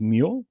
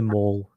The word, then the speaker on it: Moule: last name it's actually mole it's small it's mu it's a french name lex backed me up